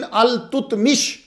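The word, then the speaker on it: ایلتتمش: ताकि बादशाह सुल्तान शमसुद्दीन अल तुतमिश, तो ये असल प्रोनाउंसिएशन अल-तुतमिश है, बाकी आपकी मर्जी, आप जो मर्जी पढ़ें।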